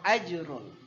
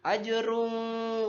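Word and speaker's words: أجرٌ: adalah izhar halqi ya dibacanya harus jelas jangan ajrul Choirul tidak seperti itu tapi harus ajrun Woi rumah Mun ajur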